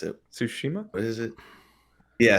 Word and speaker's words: Tsushima: I bought Ghost of I can never pronounce it. Tsushima? What is it? Yeah, Tsushima.